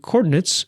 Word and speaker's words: Chordinates: And Chordinates is spelled like chord, as in musical chords, combined with the math word coordinates.